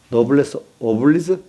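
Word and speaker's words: noblesse oblige: 나는 이게 발음이 잘 안 돼갖고 좀 누가 한번 해보지. 서부정사 해봐. 해봐. 노블레스 오블레스지. 노블레스 오블리즈?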